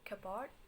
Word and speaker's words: cupboard: It's always pronounced cupboard and never kept P and P.